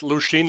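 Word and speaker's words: Lošinj: I think it's Lushin. It's Lushin, like...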